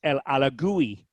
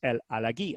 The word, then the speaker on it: El Alagui: french moroccan and um i had heard him pronounced by other broadcasters el alagui and and he said yeah he sort of chuckled he said yeah that's what i've heard people say he said but it is el aleghi i said well i'm